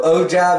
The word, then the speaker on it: ogive: it out and help you guys out so ogive is the correct way to say it the